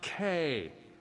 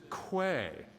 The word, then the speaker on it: Quay: It's Cat's Eye K. What imbecile says quay? My mother, the Arbor Master. Bumpkin. It is K, by the way. It's literally how it is pronounced. It is not key.